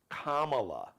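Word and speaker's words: Kamala: vice president kamla Harris and her name is pronounced commala like a comma La comma you know what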